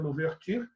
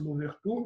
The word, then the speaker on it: Louverture: Está aqui a figura do Toussaint Louverture, escreve-se Louverture, mas pronuncia-se Louverture.